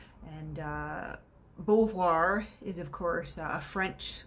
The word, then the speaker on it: Beauvoir: french and uh i've heard her last name pronounced as bouvoir bouvier and various you know variations of that but my assumption was always that it was beauvoir given the structure of the last name and